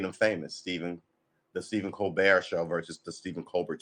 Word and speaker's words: Colbert: famous stephen the stephen colbert show versus the stephen colbert show how do you pronounce ober hold on cold bear with a silent t on the end new he wasn't like